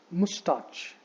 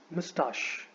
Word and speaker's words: mustache: आपको इस वर्ड को मुस्टाच नहीं बोलना है. देयर इज नो च sound in this word. The right pronunciation for this word is actually mustache. So instead of the ch sound, जो ch sound है उसकी जगह पर आपको sh sound देना है.